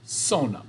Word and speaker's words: zona: Z or zeta, Z, es pronunciado S en español, right? Every time you see a Z word. So like zapato, zona, paz, incorrecto. It's pronounced zapato, zona, paz, luz, rezar, zoológico. Those all have S sounds to it.